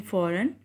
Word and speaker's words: foreign: In foreign, for is G is silent.